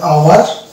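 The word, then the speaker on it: hour: অনুরূপভাবে এটা হয়ে যাবে ওয়ানার, এটা যেমন হবে আওয়ার, এটা হবে অনেস্ট, আর এটা হচ্ছে ওয়ানার। তাহলে এখানে আমরা দেখতে পাচ্ছি যে এইচ এর মানে প্রোনাউন্সিয়েশন হচ্ছে না।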